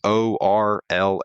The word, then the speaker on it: Orla: I might be pronouncing that wrong. It's Orla, if anyone's curious.